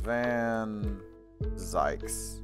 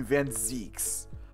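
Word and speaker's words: Van Zieks: As Van Zykes. Or excuse me, Van Zeeks. I like Van Zykes more, because it rhymes with yikes.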